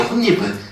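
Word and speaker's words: 홑이불: 이불이 된다이 말입니다 이렇게 그래서 호이이 아니라 혼니불이에요 혼니불 최종 발음 자체는 모든게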